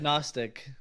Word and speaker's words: Gnostic: Gnostic. Oh. It's not agnostic.